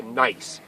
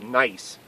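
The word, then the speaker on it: gneiss: we changed it to nice and in German you learn when it's e i that's always pronounced I so it's nice not nice nieces like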